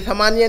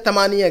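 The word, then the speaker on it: ثمانية: 8 बजे तो क्या कहेंगे सा तमानिया, ये तमानिया नहीं कहते बल्कि तमानिया कहते हैं, ये सा को ता की आवाज़ में अदा करते हैं, प्रोनाउंस करते हैं, तो कहेंगे तमानिया, सा तमानिया, सा तमानिया।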